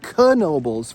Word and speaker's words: Knoebels: We are at Knoebels, and it is pronounced Knoebels for those of you who aren't aware. It is Knoebels Resort, the largest free admission amusement park in the country.